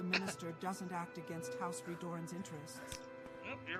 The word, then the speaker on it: Redoran: Though I am a scholar, not a warrior, there are few non-Dunmer who know more about House Reduran than I. Redoran! Don't press your luck. House Redoran.